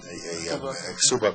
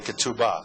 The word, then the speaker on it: ketubah: This is a ksuba being read. And these are some of the older ksubas. You call it the ketubah. That's right. The ketubah, depending on your pronunciation, talks about the husband